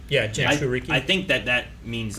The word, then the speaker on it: Jinchuriki: Yeah, Jinchuriki.